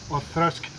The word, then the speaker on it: Auchroisk: I know it's written Whisky or whatever, but it is pronounced Auchroisk.